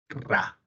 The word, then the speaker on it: Ra: Y sol de mediodía en egipcio antiguo se pronuncia así. Vamos a ver acá. Aquí está. Sol de mediodía, que es el sol de la parte más alta, se pronuncia así. Ra.